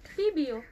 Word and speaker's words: Pebeo: So how do you pronounce that? PBO. PBO. Yes.